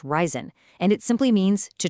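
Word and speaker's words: reisen: It's pronounced ryzen, and it simply means to travel.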